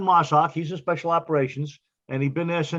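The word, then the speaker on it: MARSOC: assigned to is it is it pronounced marshawk where sock he's in mossack he's in special operations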